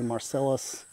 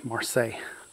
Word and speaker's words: Marseille: They want to say Marcellus. But when you go to France, there's a town in the French Riviera, and it's called Marseille, and it is spelt the exact same way that this fig is spelt. And that's how you say it, Marseille.